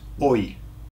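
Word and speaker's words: hoy: then the last one today today today is oi oi okay so imagine you uh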